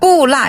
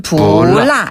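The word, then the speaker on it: 不辣: 그게 왜 안 그러냐면 라가 위에서 아래로 뚝 떨어지는 음인데 뿌라 이러면 좀 발음이 힘들어서 어려우니까 중국인들은 부라 이렇게 표현해요.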